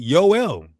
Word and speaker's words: Yoel: The proper pronunciation of Joel in Hebrew is simply Yoel.